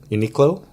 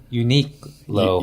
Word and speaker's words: Uniqlo: to Uniqlo yeah alright that how you pronounce it Uniqlo yeah yeah yeah unicode see but you need unique lo unique hello and so I went